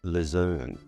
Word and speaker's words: luzerne: Alalfa in French is pronounced lazern and spelled L U Z E R N E.